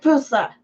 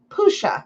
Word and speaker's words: Pusha: Go raid Pusa. Pusha, actually. I should say it right.